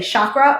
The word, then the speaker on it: chakra: And then also, I hear a lot of people, there's two different ways that people say chakra. They'll say chakra or chakra. It's actually pronounced chakra with a hard CH. So if you're saying it, chakra.